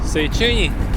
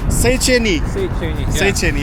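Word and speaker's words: Széchenyi: How do you pronounce this name? The name of this bridge? Seycheny. Seycheny. Yeah. Thank you. Appreciate. Yeah. Seycheny.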